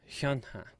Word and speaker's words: HyunA: HyunA.